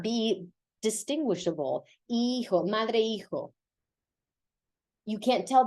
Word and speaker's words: hijo: Because the H is silent, so this sounds like hijo.